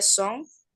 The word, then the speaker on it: songs: I sing Italian Songs. Hay que song, pronunciar la S al final. Italian songs. songs, and I watch Italian TV shows.